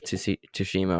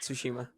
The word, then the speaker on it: Tsushima: more, Need for Speed Heat or Ghost of Tsushima or something like that? I don't even know how to say that. Tsushima, I think. Tsushima.